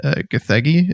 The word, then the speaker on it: Gathegi: Eddie Gathegi, is that how you say his name?